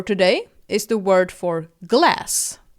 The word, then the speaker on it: glas: Our last word for today is the word for glass, like drinking glass. Glass is pronounced as glas in Swedish.